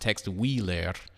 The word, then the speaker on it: Tex Willer: one western in particular Tex Willer or here pronounced text wheeler and it was created